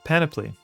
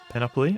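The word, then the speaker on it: panoply: Um pronounce paniply. Pan paniply. Not panopoly.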